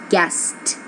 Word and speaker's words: guessed: What's the pronunciation? Guessed. Yep, it was a voiceless sound.